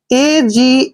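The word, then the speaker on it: age: थोड़ा डिफिकल्ट भी है ए जी ई ए का उच्चारण हम ए करते हैं ऐसे और जी ई को हम क्या पढ़ते हैं ज एज जज होता है दोस्तों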